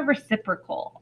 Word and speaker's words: reciprocal: that is the key vocab word that is pronounced reciprocal so when we talk about a reciprocal a reciprocal is just simply a flipped fraction